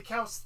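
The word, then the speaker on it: Qiao: yeah it's like the cows yeah it's pronounced cow sisters yeah they both have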